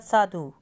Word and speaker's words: साधु: है उसके बाद साधु अब साधु में हम बड़े उ की साउंड को लिखेंगे तो गलत हो जाएगा क्योंकि हम साधु में ध उ की मात्रा को जल्दी से बोलते हैं साधु तो धा पे छोटे ऊ की साउंड है उसके बाद है अगला